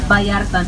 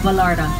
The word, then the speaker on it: Vallarta: We have El Mercado, practically a Vallarta, and it's Vallarta, not Vallarta.